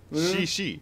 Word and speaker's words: Mushishi: Okay, how do you It's just pronounce like it then? Mushishi.